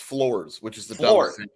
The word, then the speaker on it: Flores: no, it's pronounced Floors, which is the dumbest thing you ever heard.